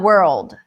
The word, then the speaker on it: world: Okay, so you're having the R, the L. That's why we have the dark L, right? Yeah, World. yeah, World. yeah, yeah. Which is actually easier, because if you put the light L, it really messes up the pronunciation, because Yeah, it gets you to, world. it makes it sound like World.